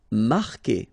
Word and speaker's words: marquer: Marquer. Okay, Q-U together, it's only the sound K. K. Marquer. Don't pronounce the U.